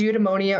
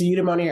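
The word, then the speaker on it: Eudemonia: and is definitely worthy of following she runs udonia herbs that's where you can get most of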